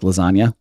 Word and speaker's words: lasagna: move in silence like lasagna. Which I have to say is actually an incredible line. Yeah. Because the G in lasagna is silent.